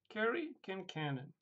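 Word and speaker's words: Cari Kincannon: Carrie Kincannon.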